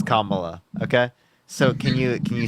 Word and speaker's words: Kamala: Kyle, I promise you it's Kamala.